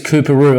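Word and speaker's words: Coorparoo: And that suburb is Kooperoo. And I know it sounds a bit funny, but this is how it's spelled.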